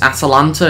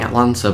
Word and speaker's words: Atalanta: But anyway, let's see how we can get on against Atalanta. Is that how you pronounce it? I've been saying Atlanta, but it's Atalanta. I was missing an A.